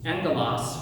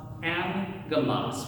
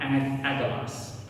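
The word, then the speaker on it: ἄγγελος: It's not uh it's pronounced angalas with an n. Angalas, not agalas. So if you have two g sounds, right, two gamas together, the first g goes to an n sound.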